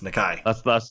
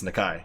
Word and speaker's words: Nakai: Yeah, it's not pronounced like Nakey Jakey. It's Nakai.